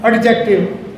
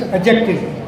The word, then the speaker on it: adjective: Now again, it is not adjective, it's adjective. Di silent here.